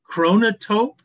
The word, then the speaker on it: chronotope: So chronotope is spelled ch H r o n o t o p e. Um so think of chronology or kronos.